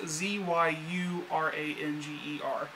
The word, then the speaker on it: Zyuranger: It's, like I said, it's called Kyoryu Sentai Zyuranger. It is pronounced Zyuranger.